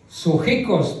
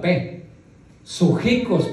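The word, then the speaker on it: ψυχικός: Sujicos, pero empieza con una p. Se me hace muy difícil ponerla, pronunciar primero la p. Sujicos. Pero antes póngale una p. Psujicos significa sensitivo.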